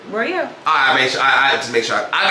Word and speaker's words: Royale: idea of who Nique Royale is, Royale or Royal? Royale.